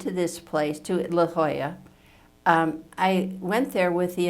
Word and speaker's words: La Jolla: I chose it Jody didn't even know how to pronounce the name is like La Jolla or whatever it was La Jolla that's right the Jolla but I